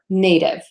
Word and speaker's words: native: going to do is two beats neh nice and long for that first part and then div nice and short native and then the last